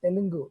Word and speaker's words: Telugu: I just pointing out the word Telugu, you pronounced as Telugu, which is the exact pronunciation of it.